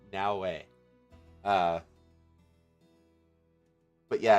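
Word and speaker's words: Naoe: butchering Now's name because it's spelled n a o e which like nobody who doesn't know how to pronounce Japanese the Japanese letters is going to know how to pronounce that correctly they're going to look at and going to now you know that cuz that's how actually is it's it's now way uh but yeah it's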